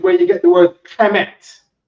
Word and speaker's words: Kemet: Hamite is Kemite, and people looked at Kemite and said Kemet. Cat from Harlem said Kemet. The white man don't say Kemet. He says Kemite.